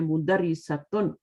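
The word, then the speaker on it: مدرسة: ता लगा देते है मुदरी सतन मुद और एक मदरसा भी होता है जी मदरसा उस मीम पर जबर आएगी मदरसा में क्या होगा मीम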